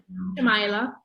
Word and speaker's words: Shamaila: The thing that struck me most was the fact that both Tahirah and Shamaila, am I pronouncing it correctly? Abdullah. Huh? Shamaila.